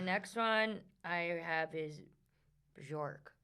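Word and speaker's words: Björk: Okay, the next one I have is Bjork. How do you say her name? Bjork Bjork.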